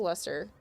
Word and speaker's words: Leicester: This is I think this one's pronounced Leicester.